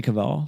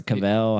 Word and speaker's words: Cavill: Who was- Henry Cavill, Yeah, he was or Cavell.